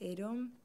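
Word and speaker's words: Adom: is a domme yes so originally is pronounced a dome and it comes from the GOP Bible the Orthodox Bible and I may have kind of grown to people calling me a dumb because I was like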